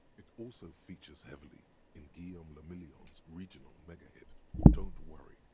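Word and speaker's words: Guillaume La Million: meant only one thing guillaume lamillion if it doesn't rhyme you're not pronouncing it right guillaume la miyan out of the dazzling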